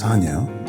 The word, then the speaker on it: Bisagno: And I am with Tim Bisagno. Ooh. Did I say it right? Yes. Bisagno.